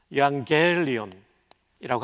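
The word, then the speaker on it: εὐαγγέλιον: 그러나 제가 발음결 써드릴게요. 엡실론, 윕실론, 알파, 감마, 감마는 N지고 엡실론, 람다, 이오타, 오미크론, 뉘, 유앙겔리온이라고 합니다.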